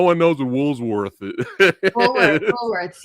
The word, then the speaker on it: Woolworths: Woolsworth. Yeah, I'm that old. Yeah. I'm mentioning those. Yeah, no one knows what Woolsworth is. Woolworths, yeah. Woolworth. Yeah. Look, I was saying it wrong.